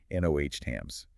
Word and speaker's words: NOTAMs: This is the network used to file flight plans, transmit ADTs, and send out NOTAMs notices to airmen, always pronounced NOH-TAMs.